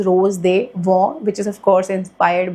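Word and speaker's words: Rose des Vents: Which is this रोज they Waugh, वैसे तो रोज डेस वेंट्स लिखा हुआ है इस पे, बट जिसकी प्रोनाउंसिएशन है that is रोज they Waugh, which is ऑफ कोर्स inspired by Louis Vuitton का रोज दे वॉ।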